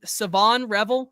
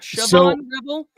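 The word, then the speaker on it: Shavon Revel: Is his name SavonRevel Jr.? It's not Siobhan Rebel. I I have been told the H is is silent.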